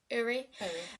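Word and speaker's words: Ury: I think that's how you pronounce her name. U R Y Uri.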